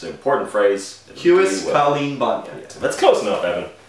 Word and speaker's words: cailín: Cunis boher colleen bonion.